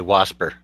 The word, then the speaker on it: wasp: more redneck than that where I'm from we say wasper wasper yeah it's a